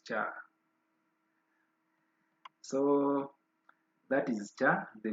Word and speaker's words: char: Is it ka or cha? Someone to pronounce this. Is it cha or ka? I don't know what is the proper pronunciation of this. But my lecturer told me is cha.